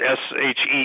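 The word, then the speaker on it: sidhe: sprites, the sea, the S-H-E-E, the she, which is spelled S-I-D-H-E.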